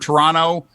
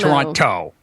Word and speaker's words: Toronto: guys say the word toronto uh that's not how people in canada pronounce it try dropping the second t as in terra no they don't run toronto but i'll leave you